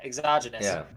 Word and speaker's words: exogenous: But in some places, at least, he assumes money is is the correct pronunciation exogenous? Yeah, exogenous.